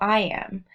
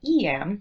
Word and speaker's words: Eyam: it "E-M," but also "I-M." Recently, I read an interesting article that insists it should be pronounced "Eem." But those who have been there, tend to call it "E-M."